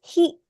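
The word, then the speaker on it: ひ: Yes, this is he. Okay. He. Hi. He. I don't really want to write HI because this in English is high, which is not how this is pronounced.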